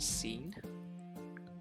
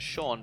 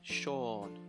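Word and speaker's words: Seán: think this is pronounced scene um but it's not it's pronounced to sean because in irish we have this this character with the little dot above it little accent mark we call it a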